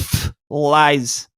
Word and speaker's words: Phylzzz: So, it's to me it's pronounced F lies.